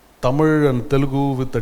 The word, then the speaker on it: Tamil: TH is because of the French are the first to write it with a T and they pronounce it as just ta. The English and the Portuguese are calling Tamil as Malabar and Telugu as Gentu.